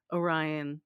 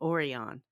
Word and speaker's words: Orion: suddenly pronounce things differently the most famous one is like Orion became oron and so in this